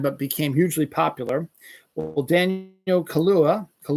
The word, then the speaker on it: Daniel Kaluuya: Well, Daniel Kaluuya, not Kahlua, that's alcohol, is co-writing a standalone Spider-Punk animated film.